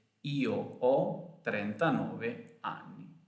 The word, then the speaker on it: ho: Io ho, tu hai, lui, lei ha, noi abbiamo, voi avete, loro hanno. The H is silent in Italian when it's at the beginning of a word.